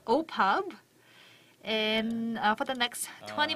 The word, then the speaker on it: OPPAV: really knows the lingo it is pronounced as oppos and for the next